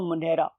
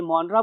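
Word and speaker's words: Monera: उसके नाम रख दो मोनेरा। और इस मोनेरा में बहुत से लोग इसे मोनरा बोलते हैं और बहुत से लोग इसे मोनेरा भी बोलते हैं।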